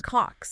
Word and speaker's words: Kocs: That's spelled K-O-C-S. Cox.